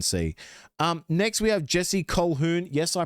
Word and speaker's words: Colquhoun: Next, we have Jesse Colquhoun. Yes, I pronounced it right, finally.